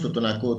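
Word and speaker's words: Tutunakú: Perdón Manuel tutunaku tutunaku nosotros nos decimos tutunaku tutú es este tres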